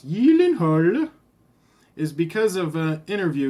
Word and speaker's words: Gyllenhaal: my little intro the reason i said it's pronounced yield annoyed is because of the interview he did with